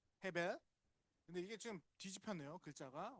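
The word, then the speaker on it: הבל: 이것도 근데 정확한 발음은 헤벨입니다. 헤벨.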